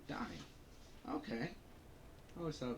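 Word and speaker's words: Dyne: That's how you pronounce his name. Dine. Okay. I always thought it was Den.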